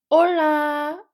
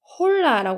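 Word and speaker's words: hola: 설명을 해 드리면 예거 올라 라라고 하지 홀라라 안 해요 여기 h 소리가 안 나기 때문에 여기서부터 시작해서 올라 오에 강해 주시고 올라 올라 이렇게 하면은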